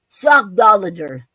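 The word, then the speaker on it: sockdolager: word to me and it's and it's called sock doer okay sock doer is spelled s o c k d o l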